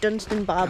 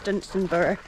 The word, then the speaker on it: Dunstanburgh: I think I had said Dunstanburgh before, but I think it's Dunstanburgh.